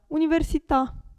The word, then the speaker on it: università: parola finisce per una vocale accentata Come si pronuncia Università università Qui abbiamo la e accentata cioè facoltà